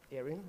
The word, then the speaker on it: Erin: Erin, E-R-I-N. Erin, are you saying that? Yes, Erin.